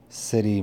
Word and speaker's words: Siddhi: Call this one the City Mystic. So let's talk about the city. The city is spelled Siddhi, and it means somebody that has perfected something or has power.